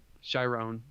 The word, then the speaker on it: Chiron: You love, you love Chiron, and am I saying his name wrong? Chiron, yeah.